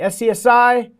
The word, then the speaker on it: SCSI: SCSI, SCSI, pronounced SCSI, Small Computer System Interface.